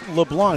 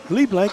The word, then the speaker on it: Leblanc: It's not Lee Blanc. It's Leblon in beast mode. Le nine drop back to Greg. Mark Leblanc. Leblon pronounced in Canada. LA just like Leblanc but the C is silent.